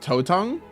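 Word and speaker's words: 头疼: It's pronounced Totong? Ooh. Totong. Headache.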